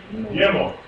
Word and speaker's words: gimel: Gimel. Gimel. Okay. What letter, does it imitate? A G. It's pronounced like a G. If you see it in a word or whatever, it's pronounced as a G.